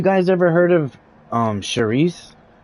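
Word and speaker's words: chouriço: Man, have you guys ever heard of um Shereice? Like when you read it on a label, it looks like it looks like it's pronounced sharo.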